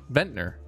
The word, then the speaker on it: Ventnor: Ventnor, not Venture.